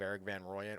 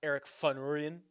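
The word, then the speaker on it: Erik van Rooyen: let's just Deep dive Eric Van Ryan or I believe is actually pronounced Eric vanurian is the way that the South Africans would pronounce this so a little bit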